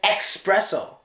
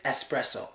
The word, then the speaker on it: espresso: you like Starbucks well this isn't an expresso it's espresso a lot of people say expresso so here is look